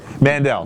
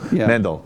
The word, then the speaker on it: Mendel: about yeah yeah alright well anyway that guy Mandel thank you Mendel sorry hey I was phonetically right it was close I was close